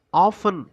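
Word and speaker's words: often: சொல்றது many times அப்படின்னா ஆபன் அப்படின்னு சொல்லலாம். ஓ எடி இதுலடி அப்படிங்கிற லெட்டர் சைலன்ட் லெட்டர் சோ அதை உச்சரிக்க கூடாது.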